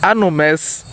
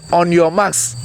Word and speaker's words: on your marks: Anomes. We corrected one. Do you remember? We said on your marks, not anomes.